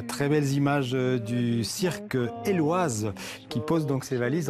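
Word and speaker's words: Éloize: à tort le cirque Héloïse. Mais il faut savoir que ça se prononce Éloise parce que c'est un vieux mot de patois acadien qui signifie éclair de chaleur.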